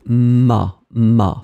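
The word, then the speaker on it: m'a: the apostrophe you get ma phonetically it's exactly the same sound Ma and Ma so remember to pronounce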